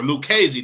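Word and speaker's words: Lucchese: and Tommy Lu uh Luchi or Luchi, I I can't pronounce his name. Or Lucesy, that's how you pronounce it.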